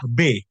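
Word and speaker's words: בְּ: Ini bacanya adalah B. Dia dibaca sebagai vokal E. Ya, karena dia ada di awal kata, awal suku kata.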